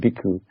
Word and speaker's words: Bhikkhu: before my name is pronounced, and then Bhikkhu is sort of means monk, I guess you could say. So that other word is Bhikkhu.